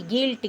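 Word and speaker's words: guilt: गिल्ट।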